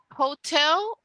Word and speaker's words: hotel: because Hotel becomes Hotel you cut off the H and you start with the o old so where how